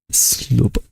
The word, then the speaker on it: sloop: Google Translator, how to pronounce slope. Sloop.